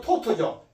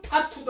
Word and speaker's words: taught: 예를 들면 teach의 과거는 taught,죠. 이것도 taught,도 아니고 tatt도 아니고 taught. 네, taught. 이거 어떻게 발음해? taught. 이렇게 하면 taught. 이렇게 쓰면 아주 정확한 발음입니다.